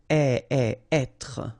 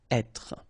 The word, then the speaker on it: être: Okay, so remember that when you get this accent circonflexe here, you should really pronounce it openly. So, être. Okay, don't insist on the final être.